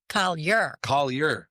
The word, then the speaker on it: Collier: Collier. Yeah. I was gonna go. So it's Scotch Irish, not French.